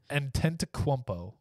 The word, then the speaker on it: Antetokounmpo: I'm pronouncing it correctly. I looked it up and listened to it multiple. Say it again. Antetokounmpo. He's not. No, it sounds like a weird coconut.